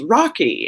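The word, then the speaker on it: Rocchi: so like medici right if there's cch then you pronounce it like pinocchio right you think um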